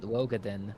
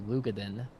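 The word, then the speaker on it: Roegadyn: I always called it Rogadin, but it's actually Lugadin.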